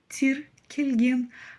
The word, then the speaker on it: тіркелген: Кельн мы с вами в первом слоге видим палочку с точкой Это нечто среднее между буквами ы и и смотрите буква Ы читается твёрдо и кратко да тр кеген буква и достаточно мягка тир кеген а палочка с точкой - это именно среднее значение читается коротко и мягко ну совсем как буква